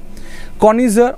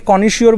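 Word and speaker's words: connoisseur: ভালো করে বোঝো উচ্চারণটা, কনিজিয়ার, ওকে, কনিজার। অনেকে কনিশিওর বলে থাকে, কনিশিওর ঠক ঠিক কথা নয়, দিস ইজ কনিজার, ওকে।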